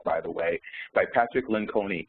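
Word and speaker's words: Lencioni: the way by Patrick Len con or lenion I believe it's pronounced and it's in essence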